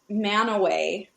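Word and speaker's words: Mantua: So there's a city called Manaway in Utah, but Yep. it's spelled Manitoua.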